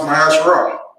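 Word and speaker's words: מעשר: It means 10th in the Hebrew. It is pronounced Mahasharah.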